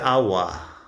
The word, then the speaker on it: agua: El agua. Water is feminine, but we use el, agua, because agua starts with a, which is the strong syllable, el agua.